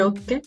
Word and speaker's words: hockey: Je joue au hockey. Du hockey, oui. On juste prononce pas le H, mais c'est ok.